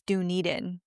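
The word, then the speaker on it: Dunedin: Dunan. That was my guess, too. Was Dunen or Duniden. I I thought it was Duniden. Apparently, it's Duniden.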